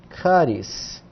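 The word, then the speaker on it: χάρις: Começamos com ri, CH, depois um alfa, K, um rho, R, depois iota e S, caris.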